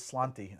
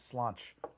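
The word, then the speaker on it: Sláinte: it all this time I thought it was slanty and now I find out it's slanch I don't know I don't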